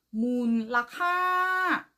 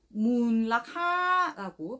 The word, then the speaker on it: มูลค่า: 두 가지로 발음하고 발화할 수 있습니다. 첫 번째 발음 문라하 문라하이고 두 번째 발음 문카 문카라고 발음하고 바로할 수 있지만 저희 강의 시간에는 문락하라고 발음하고 발화하도록 하겠습니다.